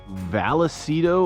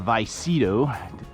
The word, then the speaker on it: Vallecito: we're gonna be next valacido or vicito depends on how you want to pronounce it reservoir uh just